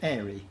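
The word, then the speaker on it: Eyrie: I mean, Tim Winton, your book, Eerie, I think you like to call it airy. You pronounce it airy, I pronounce it eerie, but...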